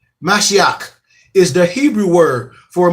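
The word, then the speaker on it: משיח: The Black Hawk was born listen to my pronunciation. Mashiach is the Hebrew word for Messiah.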